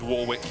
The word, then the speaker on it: Warwick: it to be pronounced that's what I do with Warwick even though it should be Warick Razo is ready to